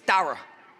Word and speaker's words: Darra: So, I could pronounce that one, but it is Darra, not Dare.